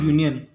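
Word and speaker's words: union: start भरी vowel से हो रहा है, पर इसका जो हमें देखने का है साउंड कॉन्सोनेंट से स्टार्ट हो रहा है, यू, जैसा कि यूरोपियन से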